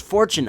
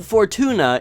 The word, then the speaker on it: Fortuna: is a troublesome topic it may look like it's spelled similar to fortune but it isn't pronounced fortune uh bib Fortuna is the proper pronunciation even the Emperor himself